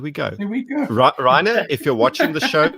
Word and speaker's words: Rayner: You got to pronounce it like Maryke would. Rainer.